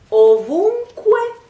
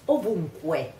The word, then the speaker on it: ovunque: Ovunque. It ends with the syllable Q-U-E. In Spanish you would say it che, while in Italian you have to say que, que.